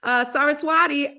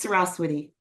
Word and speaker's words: Saraswati: Saraswati, am I saying your name right, sister? Yes, that is one way to pronounce it, but it's Saraswati. Saraswati, I like that.